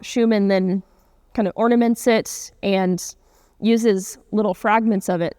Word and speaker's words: Schuman: And yes, it's pronounced Schumann. He was an American, and he used an anglicized pronunciation of his name.